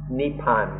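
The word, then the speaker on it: นิพพาน: In Thai, this word is nippan, or in Pali, nippana, or written in the West, we pronounce it more nibbana, and then in Sanskrit, nirvana or nirvana.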